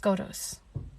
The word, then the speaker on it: Scotus: It's actually pronounced Skotos.